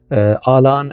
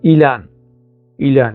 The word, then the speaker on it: آلان: وكاتبه إيلان يعني هو، لكن هو الاسم الكردي يعني نطقا وكتابة آلان يعني ربما أنه حرف ال A في اللغة الإنجليزية هيك عمل حالة من التحوير. حتى بعض يعني بعض الكتاب العرب سموه عيلان بالعين يعني، لكن الأصل الكردي والاسم يعني اسم الطفل آلان.